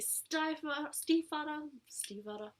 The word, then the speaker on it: Stiefvater: Then I read The Raven King by Maggie Stiefvater.